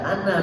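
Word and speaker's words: أنا: Ini diingatkan kalau ada ana dalam Al-Quran, walaupun ada alifnya, pembacanya selalu pendek. Ana seperti surat Kafirun, wala ana bitum wa ana wa ana awwalul muslimin. Walaupun ketemu aja tetap dibaca pendek, khusus kata ana tanpa tasdid.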